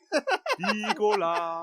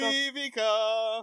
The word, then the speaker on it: Vivica: Vicola. Like fucking what the? Vivica.